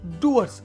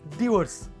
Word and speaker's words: Dewar's: डूअर्स, इट्स नॉट डीवर्स. जो लिखा है डीवर्स, मगर इसको प्रोनाउंसिएशन जो होगा डूअर्स.